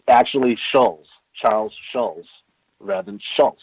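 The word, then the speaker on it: Schulz: It's not Charles Schultz. It's Charles Schultz. There's no T in it. In his name. Oh, wow. Yeah, so in this timeline, it's spelled differently. It's actually Schultz, Charles Schultz, rather than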